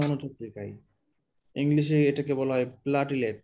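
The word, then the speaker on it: platelet: আপনি গুগল ডিকশনারিতে যান, গিয়ে সার্চ দিয়ে স্পিকারের টিপ দেন, দেখবেন বলবে প্লেটলেট, এভাবে বলবে, ঠিক আছে? তারপরে আমরা শিখলাম উচ্চারণটা হচ্ছে, সঠিক উচ্চারণ হচ্ছে প্লেটলেট, তবে অনেক ডাক্তাররা উচ্চারণ করে প্লাটিলেট, এই এর কারণ কি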